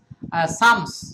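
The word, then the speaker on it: psalm: ব্যক্তি মনোরোগ সংক্রান্ত চিকিৎসা করে আবার দেখেন সালম উচ্চারণ সাম সাম কোন উচ্চারণ সাম তার দেখেন সাইকি সাইকি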